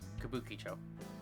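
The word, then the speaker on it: Kabukichō: Oh, that's how you pronounce it. Kabukicho.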